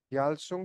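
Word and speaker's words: Gyalsung: य एनजी याल सु याल सुंग सर्विस प्रोग्राम याल सुंग सर्विस प्रोग्राम या गल सुंग अगर वाय साइलेंट रहता है अ मैंडेटरी सर्विस टू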